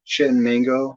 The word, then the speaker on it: Chittenango: The thing that's neat about the Chittenango, if I can say that, that's actually how it's said, but boat landing on the Erie Canal is that it's like all the original buildings.